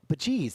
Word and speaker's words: Bajeez: Bajeez. That's how you say it.